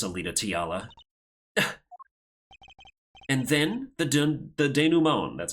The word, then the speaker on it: denouement: And then the denouement, that's how you pronounce that.